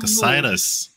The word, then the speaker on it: Cassitas: So when I talked to Bill Tiller, it was the first time I heard the name pronounced out loud. So they are called Cassitans, and the planet is called Cassitas. Oh, see, I was pronouncing it so wrong.